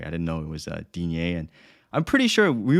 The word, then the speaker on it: Digne: And on Monday, I got absolutely hammered by Lucas Dean or Digne. I don't even know anymore. So no, it's Dean.